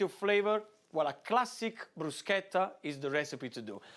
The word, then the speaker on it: bruschetta: It's not bruschetta, but it's bruschetta. What you want to put the accent on is the sk, bruschetta.